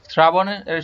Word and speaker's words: শ্রাবণ: শ্রাবণ, শ্রাবণের সঠিক উচ্চারণ শ্রাবণ।